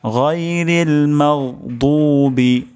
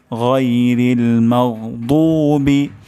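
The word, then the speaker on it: غَيْرِ الْمَغْضُوبِ: গয়রিল এটি অশুদ্ধ উচ্চারণ উচ্চারণটি এখানে হবে হলকের গলার শেষ শেষ ভাগ থেকে উচ্চারণটি হবে গাইরিল মাদুবি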